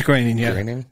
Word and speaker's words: Groening: Matt Groening yeah Matt it's green in here I know it doesn't spell that way but that's how he pronounces it so Matt Groening said